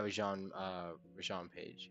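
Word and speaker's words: Rege-Jean Page: Yeah, Rajan Page.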